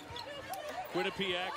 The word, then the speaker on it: Quinnipiac: All right, Dave, turn around that pronunciation. Quinnipiac. Quinnipiac is correct, and Rebecca doesn't make a three-quarter court shot.